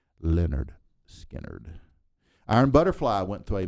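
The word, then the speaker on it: Lynyrd Skynyrd: and it came with a handy pronunciation guide for a band name that seemed to trip up a few fans back then. Leonard Skinner.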